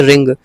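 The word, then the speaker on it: wring: रिंग का मतलब होता है, इसका डब्ल्यू साइलेंट है, रिंग पढ़ा जाएगा इसको रिंग, रंग और रंग।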